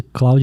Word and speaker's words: Claude: ele é francês daí tu que sabe falar francês me falaram assim ah isso aqui tem que falar clou é se é Claude